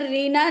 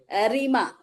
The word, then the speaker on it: Reena: Dr. Reena Nilima Lakada, not Reema.